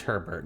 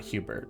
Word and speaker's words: Herbert: Okay, his name is Herbert, not Hubert.